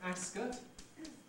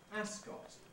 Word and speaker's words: Ascot: racecourse is traditionally called ascot increasingly one hears people pronouncing it ascot with a strong vowel in the second syllable both possible therefore like